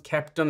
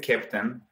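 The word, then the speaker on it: Keptn: Captain, for those people that don't know it, it's spelled K-E-P-T-N, and it's the German phonetic of a captain of a ship.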